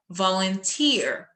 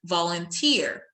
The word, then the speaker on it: volunteer: I say volunteer because I'm stressing the last syllable so I say volunteer.